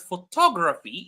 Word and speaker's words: photography: So the word photograph, it's the first syllable, but the word photography, it's the second syllable.